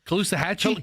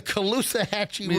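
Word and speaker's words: Caloosahatchee: And I Well, close and I can never pronounce it. It's the callous achiever. Is that right? Kousoo. Kousa Hatchee. Kousa Hatchee. It's the Kousah Hatchee River.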